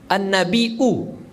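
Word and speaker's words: النبيء: Menurut riwayat Nafi', an-nabi dibaca dengan ya terakhir dibaca dengan hamzah. An-nabi'u, an-nabi bukan nabi, tapi nabi mahmuzan dengan hamzah.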